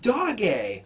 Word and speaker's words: Doge: the newscasters who had no idea what Dogecoin was, trying to pronounce Doge. It's pronounced Doge.